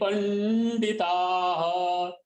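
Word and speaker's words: पण्डिताः: मात्रा ऐसे ऊ, नानुशोचन्ति पंडिताः पंडिताः, पीछे जो दो बिंदी है उसको ह का उच्चारण होता है।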